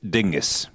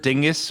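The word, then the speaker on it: Dyngus: And the origins of the word dingus, it's with the Y, D-Y-N-G-U-S, are obscure.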